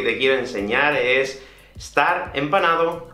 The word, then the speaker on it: empanao: en panamá de hecho en españa no decimos empanado o empanada decimos empanado o esta chica está en panal es muy raro ver cómo se pronuncia la última de así que simplemente la omitimos voy a quitarte fue